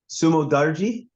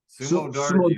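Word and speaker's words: Sumudaerji: Sumo Darji. Sumo Darji.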